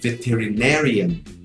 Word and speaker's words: veterinarian: hoje, veterinário, que é veterinarian. A acentuação é parecida, mas a palavra se escreve um pouquinho diferente. O resto é tudo igual.